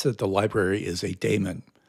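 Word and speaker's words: daemon: the library is a demon you will hear some people pronounce that as demon people that would put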